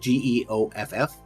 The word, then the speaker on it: Geoff: Because actually, I think one of the players' actual name was Jeff. But it's spelled Geoff.